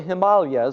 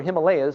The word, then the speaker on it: Himalayas: the foothills of the Himalayas or Himalayas depending on how you say it they're called the Hansa